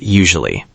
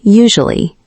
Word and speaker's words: usually: Let's practice the word usually. Okay, usually. You, su, li. Yes, say it slowly first. You, su, li. Usually.